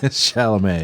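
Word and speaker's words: Chalamet: Shalamé.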